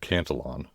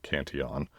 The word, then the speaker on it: Cantillon: That's the Cantillon effect, which, by the way, I've just learned I've been mispronouncing since I started this show. Sorry about that. Richard Cantillon, not Cantillon, was an Irish-French economist